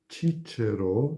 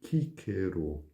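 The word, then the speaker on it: Cicero: a vossa atenção, é a letra C, como por exemplo em Cícero, que não é pronunciado Cícero na pronúncia restaurada, e seria a pronúncia tradicional, mas sim Cícero.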